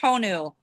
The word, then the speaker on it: Honu: And the DJ is turtle is pronounced Honu in Hawaiian in Honu.